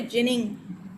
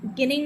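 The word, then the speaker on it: ginning: गिनिंग नहीं पढ़ेंगे। पहले जब मैं छोटी थी तो मैं इसे गिनिंग पढ़ती थी, बहुत बाद में मुझे पता चला कि इसे जिनिंग पढ़ते हैं, तब जाके मेरा प्रोनाउंसिएशन करेक्ट हुआ। तो मैंने आपको इसलिए बता दिया कि आप लोग भी कहीं भूल से इसे गिनिंग ना पढ़े, ये जिनिंग है।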